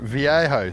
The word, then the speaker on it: Viejo: Viejo.